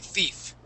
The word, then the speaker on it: thief: is okay Thief okay just like heed we're gonna use that long e or that Spanish I thief thief thief there you